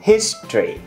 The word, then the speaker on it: history: tự này lịch sử mình có thể đọc là history history thành 3 lý đúng không Nhưng mà trong văn nói người ta hãy đọc là history history chỉ có hai thôi history rõ bác tương